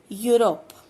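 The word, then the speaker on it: Europe: यूरोप, यूरोप में ई silent है और ये यहां से शुरू हो रहा है और यू या से स्टार्ट है, तो यहाँ पे अ लगेगा।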